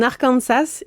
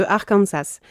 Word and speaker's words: Arkansas: Cependant, la prononciation française du mot avec l'accent sur la dernière syllabe a été conservée, contrairement à la prononciation anglaise qui met l'accent sur la première syllabe.